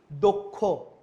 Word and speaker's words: দক্ষ: এখন দেখো দ উচ্চারণ কি হয়েছে? দ ওকার হয়ে গেছে, তাহলে কি দক্ষ। অ ওকার হয়ে গেছে মানে কি? দক্ষ।